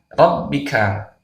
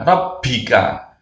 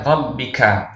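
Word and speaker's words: رَبِّكَ: Kemudian kesalahan selanjutnya saat kita membaca huruf ba, ada yang membaca dengan hembusan angin atau hamas. Harusnya bi dibaca bi. Ini tidak boleh ya. Jadi ini yang benar membacanya rabbika, bukan rabbika.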